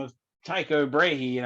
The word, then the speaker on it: Tycho: of tycho brahe and i've heard they pronounce it teego tycho brahe who was a dane he was from denmark yeah teego brahe i think that might be a better way of saying it i don't know very